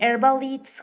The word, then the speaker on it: herbalist: and good that you pronounce herbalist instead of herbalist. So nice. I mean, Herbalist? l- Herbalist. no. Like you pronounce it right because like herbalist. That's Okay, teacher. yeah. Because it's a Okay, little bit tricky with like that silent H.